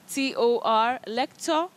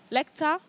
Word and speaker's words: lector: this other word l-e-c-t-o-r lector lecter yeah you say lector okay that is a teacher in a university especially somebody who teaches their own language in a foreign country you say lector not lecter okay no all right